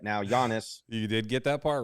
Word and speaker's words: Giannis: JIS I got his first name right now Giannis you did get that part right come on